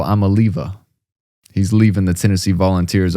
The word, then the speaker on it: Iamaleava: star star quarterback uh Nicoyava. And I think um we've been pronouncing his name wrong this whole time, guys. I think it's uh Nico Amaliva.